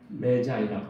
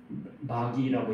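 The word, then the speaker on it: Magi: 우리나라 말로는 박사들이라고 번역했는데 영어로 말하면 메자이라고 말해요. 메자이. 우리는 흔히 마귀라고 읽는데 메자이.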